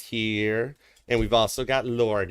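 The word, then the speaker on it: Lorde: and we've also got Lord is here it's the E is silent it's cool all right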